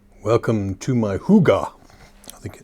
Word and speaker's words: hygge: Welcome to my hygge. I think it's the way it's pronounced.